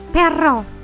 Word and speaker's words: perro: Spanish it's very easy you have to make it like a frog like like my name or perro pero very good the vels